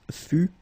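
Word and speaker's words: fus: more time for okay keep in mind that final s is not pronounced exactly the same thing final s not pronounced final not pronounced okay so basically you've got only one phonetical form here and it's fu fu fu the same okay then final s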